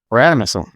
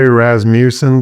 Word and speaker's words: Rasmussen: Rasmussen. Yeah, it does not sound like it's pronounced or like it's spelled. Yeah, don't say Rasmussen. The Wisconsiners will laugh at you if you say that stuff.